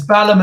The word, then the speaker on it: Balham: It's Balham as in South London.